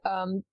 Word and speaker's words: Ryu: Is it Ryu? I always say it wrong. Ryu, yeah, this is your 28th game as Ryu.